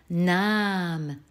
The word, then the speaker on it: nahm: Le prétérit maintenant, nahm. Ah, à nouveau le A est long, donc derrière il y a un H.